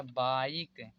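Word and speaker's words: bike: ई silent होता है word के लास्ट में मतलब जैसे यहां पर लिखा है बी आई केई तोय लास्ट में ई है तो इसलिए यह साइलेंट होगा तो यहां पर हो जाएगा बाइक यहां पर टाइप यहां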